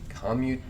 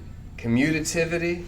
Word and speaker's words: commutativity: Commutativity. I can never quite come to grips with how that is best pronounced. Commutativity. So you're missing the T. Commutativity. I don't know.